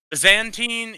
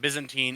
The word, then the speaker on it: Byzantine: Byzantine if you're from Europe, and Byzantine if you're from any functional part of the world that speaks original English.